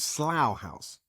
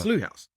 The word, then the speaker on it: Slough House: of your town, and I've always been pronouncing it in my head in an English way. This was Slough House, but now you're telling me it's Slough House.